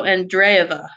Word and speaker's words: Andreyeva: name is a in d-r-e ye VA so andreyeva so basically if I remember the one Russian